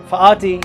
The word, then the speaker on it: Fatih: Fatih, you pronounce like the word faith isn't pronounced like the word faith, if that makes any sense.